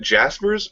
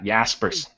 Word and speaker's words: Jaspers: about Jaspers I think Bugg me is it Jaspers or yaspers yeah yaspers Jers but it's one of those things that